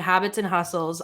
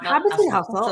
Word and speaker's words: Habits and Hustle: Look, not Habits and Hustle. I've said it right. No, you're giving it a plural. Oh, did I? Yeah. No, Habits and Hustle for sure.